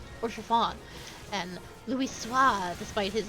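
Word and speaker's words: Haurchefant: his name's pronounced, because you don't pronounce the H, or most of the ending letters, Orchevant.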